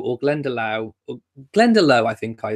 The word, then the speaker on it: Glendalough: And I think I said Glendalough or Glendalough, I think I said. And I think the Lough is pronounced Loch.